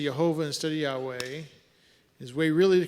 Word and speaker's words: Yahweh: One asking, Yahweh.